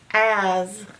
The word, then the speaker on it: as: As. I like to run as fast as my brother. As. As. Now most people pronounce this to sound like this S is a Z.